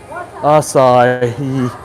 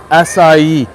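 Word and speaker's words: açaí: Asai. Asai. Thank you. Asai. Yes. Thank you. Asai. Three. Three syllables.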